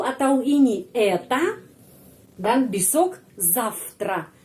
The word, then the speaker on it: завтра: Itu atau ini это, dan besok завтра. Завтра, kenapa V dibaca F? Karena huruf T huruf voiceless. Karena itu V bacanya F.